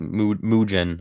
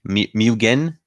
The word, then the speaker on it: Mugen: card but um yeah is it mujin all right keep that in mind hard g mugen mugen oh mugen okay got it the selfie ever